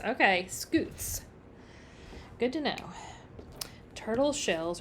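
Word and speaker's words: scutes: all right thanks Lanza thanks Jessica oh it's pronounced scoots okay scoots good to know turtle shells are made up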